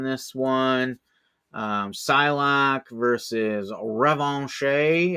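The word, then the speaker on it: Revanche: one um psylock versus revon I think that would be the French pronunciation revon you can correct me if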